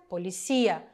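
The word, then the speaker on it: policía: de tonicidade ou seja mudança de sílaba tônica por exemplo polícia policia herói héroi cérebro cérebro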